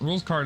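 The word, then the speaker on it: Rouxls Kaard: Um yeah, rules rules card is the ultimate just I don't even know what character he is.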